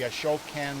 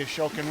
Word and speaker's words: Ashokan: There is no need for a water pump to get any of this water from Woodstock, where the Ashokan Reservoir is. A-S-H-O-K-A-N. Ashokan Reservoir. How do you spell it?